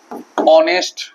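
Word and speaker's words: honest: consonant থাকিব কিন্তু এইচ টু কি হই থাকিব সাইলেন্ট হই থাকিব জেনে গোয়া উদাহরণ মুই এটা দিছু যে হি is dash অনেস্ট ম্যান ঠিক আছে তো ইয়াত আমি যদি দেখা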